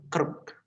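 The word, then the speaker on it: kırk: Terus 40 itu kerk. Ini ya, kerk bacanya.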